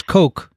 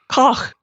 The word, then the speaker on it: Koch: we're going to work on the pronunciation of that. Well, what is it? I thought it was Coke. Kathy, is it really cock? Koch.